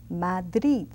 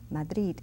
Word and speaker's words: Madrid: how I pronounce it Madrid Madrid in Spain the last D the final D of that word is pronounced very strongly Madrid and in Madrid Madrid